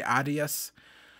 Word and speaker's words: Adidas: this other YouTube channel they always say Adias and instead of Adidas I think that's more of the American pronunciation of that but we